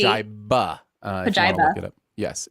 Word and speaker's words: Pajiba: Evan in the chat says Pajiva. No, I believe it's with a B. It's with a B. Pajiba.